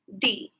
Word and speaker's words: the: Okay so when um when a word that begins with a consonant we pronounce it as the for example foreign the students have joined my life today each of the students will get a special prize and when the word word starts with a vowel sound we pronounce it as D for example uh I